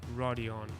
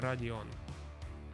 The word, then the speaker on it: Rodion: in russian region yeah that's how you should pronounce it it's not rodion it's it's radion it's gonna sound cool so yeah that's his